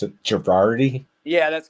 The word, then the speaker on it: Gherardi: have uh luke girardi here so how you pronounce it girardi yeah that's correct yes luke girardi with me i know it's a really tough